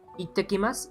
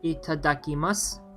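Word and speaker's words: いただきます: Itakimasu, or not itakimasu, what am I saying? Itadakimasu.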